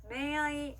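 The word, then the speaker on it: 恋愛: 그 다음은요, 니은과 이응의 중간 발음이에요. 어떻게 들었을 때는 니은처럼 들릴 때도 있고 이응처럼 들릴 때도 있는데요. 이 글자들 아행, 하행, 야행, 와행 앞에 왔을 때, 이 글자들 아행, 하행, 야행, 와행 앞에 왔을 때, 그리고 응이 단어의 맨 마지막에 왔을 때는 니은과 이응의 중간 발음으로 소리 납니다.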